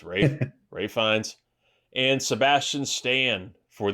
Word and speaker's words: Ralph: for conclave and yes it is pronounced Rafe is not Ralph it's Rafe Rines and Sebastian Stan